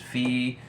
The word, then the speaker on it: Phee: Her name is Fee. Hey, Fee girl. Fee is spelled Phee.